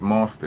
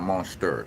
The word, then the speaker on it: Monsta: But all of it's monster, not monster. It's an A, no ER.